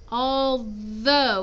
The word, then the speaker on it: although: after although although though although it's a th sound in the middle so it's though okay it's not a d sound it's not all do